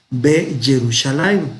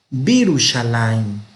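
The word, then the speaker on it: בירושלים: Y así ya no vamos a pronunciar B Jerusalén, sino Birushalayim.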